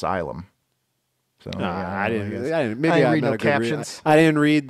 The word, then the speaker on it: Ylum: living in the Moon isum is in Asylum the last part of Asylum oh I was calling it wum well it's funny because